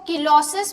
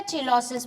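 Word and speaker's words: cheilosis: इसका नाम है जिसको किलोसिस भी बोल सकते हो या चिलोसिस भी बोल सकते हो, जैसे आप प्रोनाउंस करो, चिलोसिस, किलोसिस, ठीक है।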